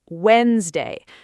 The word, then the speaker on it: Wednesday: The correct pronunciation is Wednesday. The D in the middle is completely silent.